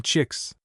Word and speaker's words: Chiliwix: And you pronounce my aunt's name chicks.